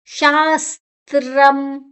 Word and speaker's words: ಶಾಸ್ತ್ರಂ: ಉಚ್ಚಾರಣೆ ಶಾಸ್ತ್ರಂ ಶದ ನಂತರ ಸ ತ ಮತ್ತೆ ರ ಮೂರು ಅಕ್ಷರ ಸೇರಿದೆ ಶ ದ ಜೊತೆ ಸ ಅನ್ನ ತಗೊಳ ಸಿ ನ ಜೊತೆ ತಗೊಳೋ ತನ ನಂತರ ರ ಶಾಸ್ತ್ರಂ ಮ ಅಲ್ಲ ಮು ಇದ